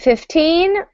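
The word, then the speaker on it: fifteen: With 15, we'll usually stress the second syllable.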